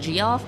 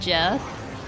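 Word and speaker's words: Geoff: Is it Is Goff pronounced Goff or Jeff? I am bad for this. I never knew how to pronounce it in my head. It's pronounced Jeff.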